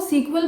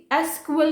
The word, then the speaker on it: SQL: पहले इसको सीक्वल बोला जाता था जिसकी फुल फॉर्म होती थी structured English query language, but बाद में लेटर ऑन इसको चेंज कर दिया गया और इसकी प्रोनाउंसिएशन को भी चेंज कर दिया गया, जिसको अब हम सिंपली SQL बोलेंगे, सीक्वल नहीं बोलेंगे।